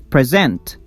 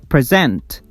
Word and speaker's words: present: But if I stress the second syllable, it is present, present, which is a verb and means give something formally.